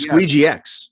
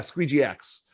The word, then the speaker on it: Squeegee X: And that's, by the way, that's not SQUEEJECTX, which your JECTX. No, it's Squeegee X. Yeah, Squeegee X. But it does sound like Squeegex, like it rhymes with reject.